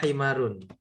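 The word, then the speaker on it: حمار: Hadza himarun. Ini. Keledai. Iya. Ulangi sekali lagi. Diulangi sekali lagi. Haza himarun, ini keledai. Betul. Ya. Nah, bacanya juga harus pakai H ya. Jangan pakai kho. Nanti artinya berubah.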